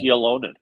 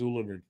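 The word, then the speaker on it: Ylönen: I thought it was Yolonen. No, from him, the actual pronunciation is Ulanin.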